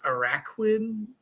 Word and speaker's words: Araquanid: And how do you pronounce this? Araquanid, Araquanid.